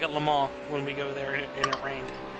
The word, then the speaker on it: Le Mans: So the French pronunciation is Le Mans, right?